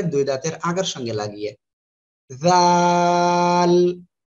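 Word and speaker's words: ذال: আগার সঙ্গে লাগিয়ে জাল সবাই বলেন জাল এটাও কিন্তু নরম সুরে আওয়াজ হবে ঠিক আছে জাল যদি আপনারা একটু শক্ত আওয়াজ করেন তাহলে কিন্তু হবে না তাহলে এটা কি করব আমরা একটু নরম করে উচ্চারণ করব জাল জাল এ করে আমরা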